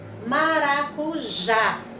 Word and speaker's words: maracujá: oxítona então nós temos o exemplo maracujá então nós temos a última sílaba já né mais forte a sílaba tônica já então essa palavra pela